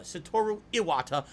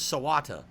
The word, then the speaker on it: Satoru Iwata: may have noticed satoru I got his name wrong Iwata Iwata satoru Iwata I combined his two names satoru Iwata and I said his name was sawata I'm an idiot so